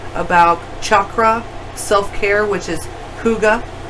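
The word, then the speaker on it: hygge: anything from tarot to crystal healing crystals, about Reiki, about chakra, self-care, which is Huga, it's pronounced. Huga.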